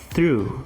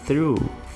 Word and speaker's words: through: Aqui a pronúncia vai ser through, through, through.